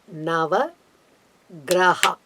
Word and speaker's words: Nava Graha: The exact pronunciation will be Nava Graha. Gra is a short letter, Ha is a short letter, but when you say as a plural number, Nava Grahaha, we can say.